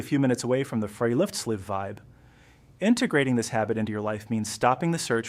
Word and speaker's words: friluftsliv: This is perfectly captured by the Norwegian concept of Friluftsliv, pronounced Friluftsliv, which literally translates to free air life.